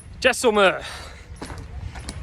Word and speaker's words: Jaisalmer: Jaisalmer. That's how you say it.